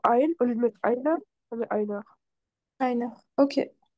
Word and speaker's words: einer: Alors, on prononce pas le R en allemand comme ça, mais c'est bien pour te donner la bonne terminaison. Mais il y a Einer. un R, il y a un R quelque part dans ein. Voilà, ouais, c'est Einer. Einer, mais c'est juste qu'on ne prononce pas le R de la même façon.